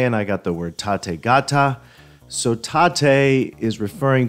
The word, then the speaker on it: Tate: the Tate demo now that is Tate t a te not pronounced Tate but Tate so let's go through